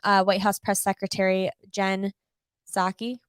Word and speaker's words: Psaki: Almost immediately after Biden's comment on Wednesday about coming for Amazon, White House Press Secretary Jen Psaki, right?